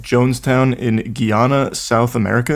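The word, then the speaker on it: Guyana: settlement called Jonestown in Guana South America is that how you say it yes Gana Gana I've heard Gana most of the time all right Guana South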